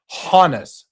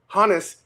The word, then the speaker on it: Honus: My my point is that just because his original name out of Germany was Johannes does not mean without a re without a reasonable doubt that he pronounced it Hanis.